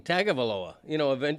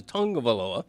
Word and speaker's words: Tagovailoa: I mean, I probably went the first year after he was drafted saying Tagovailoa, but eventually you learn that the way he pronounces it in the Samoan culture is Tungavailoa, and so you adapt.